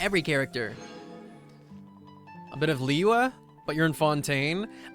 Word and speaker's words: Liyue: A bit of Liyue, but you're in Fontaine. I didn't say Liyue, I said Liyue. If you pronounce it Liyue Harbor, I'm gonna get you.